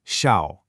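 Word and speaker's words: 小: It's pronounced shiao and it just means small.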